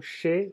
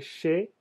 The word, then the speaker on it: chez: Sería chez, se escribe, no se dice che, como está escrito, pero se escribe con SH. Se dice como SH.